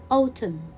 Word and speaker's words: autumn: will read it damn autumn here i have m and i have n so n comes next to m i will not pronounce letter n it will be a